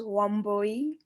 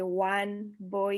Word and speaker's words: Wambui: so my name is womboy pronunciation you can just say one boy and it's you know homeboy um i'm from kenya